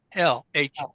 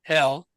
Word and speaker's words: Hel: of the underworld is hell, hell. I don't know what it would be in, you know, runic, but it's pronounced hell, but without the extra L on it.